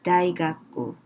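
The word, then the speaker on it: 大学: And then it goes to Japan, probably from Korea. The spelling is the same as Chinese, but the pronunciation is daigaku, daigaku, daigaku.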